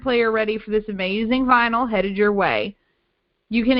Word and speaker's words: VNYL: So let's start with vinyl. So that's spelled VNYL, so like vinyl without the I.